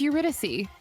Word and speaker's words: Eurydice: No, it's Eurydice.